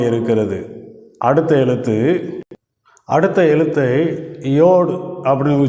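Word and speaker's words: יוד: சாத்தானை அடையாளப்படுத்துகிற எழுத்தாக இருக்கிறது அடுத்த எழுத்து அடுத்த எழுத்தை யோடு அப்படின்னு உச்சரிக்கிறோம் பத்தாவது எழுத்தை யோ அப்படின்னு உச்சரிக்கிறோம் இந்த யோ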